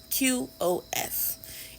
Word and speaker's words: qof: the character that is uh pronounced kof qof and pronounce that way by in the scholarly realm and they say it